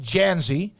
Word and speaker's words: Dzansi: the origin of your last name is d-z-a-n-s-i pronounced janzi where's the origin of